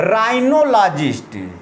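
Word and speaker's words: rhinologist: आइए नेक्स्ट देखते हैं राइनोलॉजिस्ट। यह साइलेंट है यहाँ पर।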